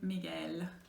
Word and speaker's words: Miguel: Spanish, in that case, like the name Miguel, you never say Miguel, don't pronounce gue, so you have to make it like one sound, ge, alright?